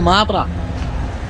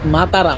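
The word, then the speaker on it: Matara: Google লিখতে মাতারা তো আমি তো বলছি মাতারা মাতারা এই লোক বুঝতেছে না বলছে মাতারা নট মাতারা মাতারা এইটা মূলত একটা ধর্মীয়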